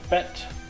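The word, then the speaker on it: bed: The letter B is pronounced just like in English unless it's on the end of a word. In this case, you pronounce it like a P.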